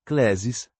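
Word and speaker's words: κλῆσις: Complementando com um termo do Novo Testamento, Cllesis, Cllesis, pronúncia KL, é acento agudo, sis, chamada vocação.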